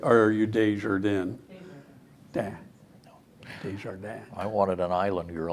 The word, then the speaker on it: Desjardins: Is that, I wanted to do we find- go with the French pronunciation, or are you Desjardins? Desjardins.